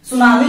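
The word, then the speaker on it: tsunami: सुनामी में कहीं भी टी आ रहा है, कहीं भी टी नहीं आ रहा है, लेकिन स्पेलिंग में लिखना पड़ेगा भैया, क्योंकि टी यहां पर क्या है साइलेंट है।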